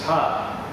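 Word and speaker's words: ชาติ: Jati becomes Thai, pronounced as Cha.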